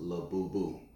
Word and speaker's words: Labubu: Now again, you pronounce these dolls Labubu.